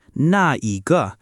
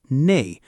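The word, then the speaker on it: 那: By the way, in full form, it's na, but people drop the e in daily speech. And when nah comes before a measure word, it's often pronounced nay.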